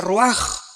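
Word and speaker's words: רוח: Aquí se usa otra palabra hebrea, que se escribe ruach, con R de Raúl, A-C-H, se pronuncia ruach.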